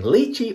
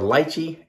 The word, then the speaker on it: lychee: And I looked up the way to pronounce that word, and it's both ways depending on where you are. Could be lychee, could be lychee. You pick whatever you like.